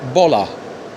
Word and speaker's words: baller: الار في الاخر ما نطقهاش. you're not a baller. وهي في البريتش ما نطقش الار ابدا الا لو بعدها حرف متحرك زي ما قلنا في الفيديو اللي فات. يعني مثلا دراع قلب هات، جزء بات، مدرس تيتشر. اوكي، يبقى بولر BALLER بولا.